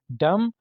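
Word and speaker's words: dumb: बी आपने नहीं बोलना डम बेवकूफ या गूंगा इंसान इसमें भी आप देख सकते हैं बी साइलेंट है उसके बाद थम थम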